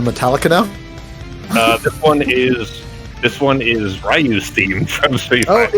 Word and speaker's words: Ryu: This one is Ryu's theme from Street Fighter. Oh, is it? Yeah. Wow, he was my boy too. Ken and Ryu, yeah. Is it Ryu or Ryu? Ryu is definitely the correct way.